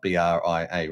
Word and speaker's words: Bria: Uh I always call it Brier because it's spelled B R I A, right?